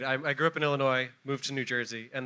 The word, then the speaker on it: Illinois: is the capital of Illinois silent s nice now they have